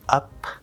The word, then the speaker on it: up: The full pronunciation would be up with a P pushed out, but normally it's stopped.